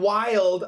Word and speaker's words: wild: But wide and wild are a little bit easier because this is one syllable, but this is basically two syllables, okay?